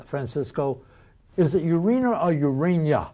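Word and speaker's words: Ureña: Is it Urena or Urania? Urena, yeah.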